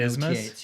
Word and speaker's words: isthmus: That one is pronounced like with a Z though, and there's no Isthmus. TH.